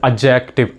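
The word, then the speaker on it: adjective: a first of ल the pronunciation of this word is एडजेक्टिव एजे एडजेक्टिव नॉट एडजेक्टिव नॉट एडजेक्टिव this इ एडजेक्टिव because D E silent यर या डी is silent hair ट्स वई this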